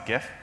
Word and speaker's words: GIF: So I'm going to tell a story about this GIF, and it's GIF with a hard G.